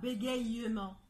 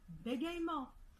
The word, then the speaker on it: bégaiement: On ne dit pas bégayement. On dit bégaiement.